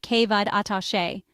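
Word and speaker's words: Cé mhéad atá sé: The Irish equivalent is si mhid atase, pronounced kevad atashe.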